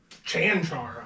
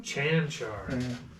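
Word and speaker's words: Čančar: How would you pronounce it? Because it's not what you think it would be. Valvik? Kankar? Chanchar. I don't know where the H comes from. Chanchar.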